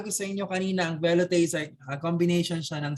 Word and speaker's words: velouté: Pronounced velouté.